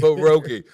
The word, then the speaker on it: pierogi: It's pierogi. You got to roll that P. Pierogi. I don't know how to roll a P. Just like you roll your R's.